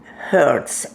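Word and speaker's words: Hercz: and my name hungarian name is hertz h-e-r-c-z was my maiden name and i was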